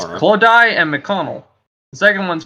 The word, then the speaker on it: Clodagh: you pronounce these words, miss, is Clodagh and McDonald. The second one's kind of self-explanatory, but the first one's kind of... Clodagh. Yeah, so it's Clara and Clodagh.